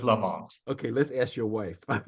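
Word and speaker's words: Lamothe: name was Ferdinand Joseph Lam moth is it Lam moth or Lam moth boy there there are infinite arguments about how that one was spelled and pronounced but let's go with Lamont okay let's ask your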